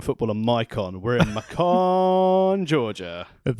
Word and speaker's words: Macon: We're in Macon, Georgia.